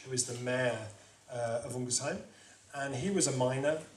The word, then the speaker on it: Ungersheim: This is a place called Ungersheim, that's how they say it. Ungersheim, and this is in Alsace, in the northeast of France.